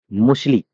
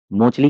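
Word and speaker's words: Mauchly: मुशली, मोचली कह लो या फिर मुशली कह लो, ये अंग्रेजों के नाम है तो प्रोनाउंसिएशन अलग अलग किताबों में अलग अलग मिलता है।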